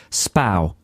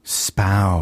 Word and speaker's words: Spui: It's pronounced Spau. Spow. It's spelt Spui, so, you know, to know that it's pronounced Spau and then go to Amsterdam is kind of useless because you'll never find it.